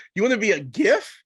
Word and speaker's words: GIF: She's like, it's not a GIF, Gail. It's a GIF. I was like, but it's spelled with a G.